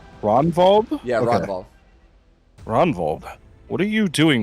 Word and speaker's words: Ragnvald: Ragnvald? The G is silent according to Tristan. Ronvald? Yeah, Okay. Ronvald.